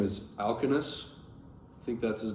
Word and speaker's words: Alcinous: I think Alcinous, that's how you say it. It's spelled Alkino, O with the 2 dots over it, S. That's how the Lattimore translation has it. But I believe that's Alcinous.